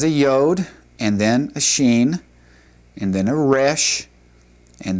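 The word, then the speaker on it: שין: The sheen would have a sh or an s depending on where the dot would go.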